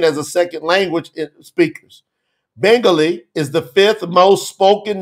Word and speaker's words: Bengali: promote the truth website into bangai how do you say that Bengali yeah Bengali Bengali okay so we want to